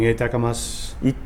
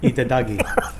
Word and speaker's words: itadakimasu: Itadakimasu. Itadakimasu. Itadakimasu. No, itadaki. Itadakimasu. Itadaki. Itadagi.